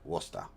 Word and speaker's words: Worcester: Oh, Sam is from Worcester. Okay. Well, well, the fact that they pronounce it Worester is enough for me.